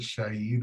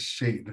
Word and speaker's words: Shade: I'm like, I pronounced it Shaid, I think. Lots of people pronounce my name like that when they first see it. But I know it's Shade, so I never got to apologize for that.